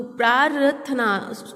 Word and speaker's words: प्रार्थना: तो प्रार्थना उच्चारण में र पहले साउंड हो रहा है, तो इसलिए हम थ के ऊपर र लगाएंगे।